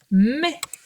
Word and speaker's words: mais: Alors, ce petit mot mais qui veut dire néanmoins, cependant, eh bien il s'écrit avec le est de maison et il a un S qu'on n'entend pas.